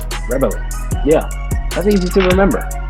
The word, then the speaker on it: Rebele: It's the word rebel with an E at the end, so it's just rebel-y. Rebele.